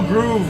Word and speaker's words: Grove: He said hello, Groove, with 2 O's. You guys know that is an acceptable way of saying my name. It's acceptable. Everyone in Europe calls me that. Everyone from Europe calls me Groove with 2 O's. And everyone from South America as well, 2 O's.